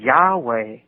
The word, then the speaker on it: Yahweh: It actually reads that those each one of those nailike figures represents uh a letter and it's pronounced Yahweh.